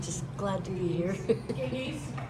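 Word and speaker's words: Gygi: So it's not Gigi, it's Gigi? It's Giggy, yes, They have a lot of stuff they do.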